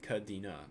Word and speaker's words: Caideenah: this okay the block that block the name is spelled kadina but it's pronounced the same I remember the